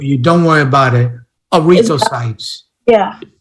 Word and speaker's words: erythrocytes: Yeah, I think it's 214, but I'm having trouble pronouncing it. Is it every? I got it for you. Don't worry about it. Erythrocytes. Yeah. Erythrocytes.